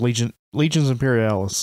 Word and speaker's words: Legions Imperialis: Gunfighter's Ball than you would find playing Legion Imperialis. Am I saying it right? That's what it is, right? Yes, Legions Imperialis.